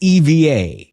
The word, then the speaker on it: EVA Air: is it pronounced EVA or is it EVA Air? So she paused and she said, it's EVA.